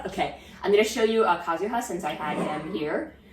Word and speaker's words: Kazuha: Kazuha. Well, his last name is Kaida. Well, because last name, first name, because Japanese. Okay. So first name is Kazuha.